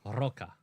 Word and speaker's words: Roca: Roca. That's, Roca Margarete. I just wanted to show off that I can roll my R's.